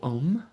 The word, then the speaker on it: Om: The syllable om is three syllables. O, a, m.